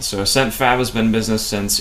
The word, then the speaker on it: AscentFab: How long has AscentFab been in business, and how long have you been full-time? Right. So AscentFab has been in business since April 29th of 2021.